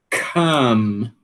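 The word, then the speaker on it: calm: Come. Não pronuncia esse L, ok?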